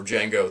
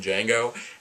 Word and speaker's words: Django: Jamie Foxx's character or Django the D is silent like grow as a